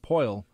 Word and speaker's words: Poile: David Poile. Poile.